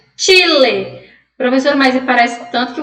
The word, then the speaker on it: Chile: Se eu fosse ler essa palavra aqui em português, eu ia ler Chile. O Chile. Só que aqui a gente vai pronunciar da forma correta. Chile.